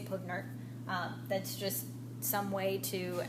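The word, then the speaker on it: PV = nRT: You'll hear it pronounced often as Puvnert or Pivnert. I usually say Puvnert.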